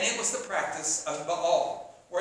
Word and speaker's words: Baal: And it was the practice of Baal, or as some of you might have heard, Baal. If you want to look professional and you want to sound scholarly, say Baal. That's how they pronounced it back then.